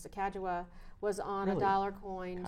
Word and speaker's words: Sacagawea: very early on right Sacagawea accept the correct pronunciation is the Caggiula was on a dollar